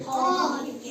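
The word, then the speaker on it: half: हो जाएगा ठीक है एच ए एल एफ इसको क्या पढ़ते हैं हाफ हाफ पढ़ते हैं हाफ मींस आधा ठीक है इसको हाल्फ नहीं पढ़ा हाल्फ क्यों नहीं पढ़ा क्योंकि वावल ए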